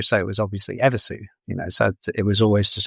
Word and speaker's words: Evisu: U on the end because in Japanese, the U on the end of words is barely pronounced. Slightly altered kind of pronunciation of the previous letter, but it's basically, like, so then you have Evisu, which is Ebisu, which is a god